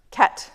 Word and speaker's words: ket: bracket around the one is pronounced k. It's like the right hand side of a bracket.